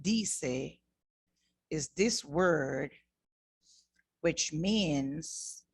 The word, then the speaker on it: dice: You would say dice. And that is what I'm saying. Javier dice. Javier dice.